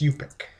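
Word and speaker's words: Yup'ik: holly stanton's play and let's see if i can pronounce it right yet i didn't pronounce it right it's yupik the super hard language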